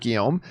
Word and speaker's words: Guillaume: a good canadian kid by the way robert guillaume so it's pronounced guillaume i you know what i think you told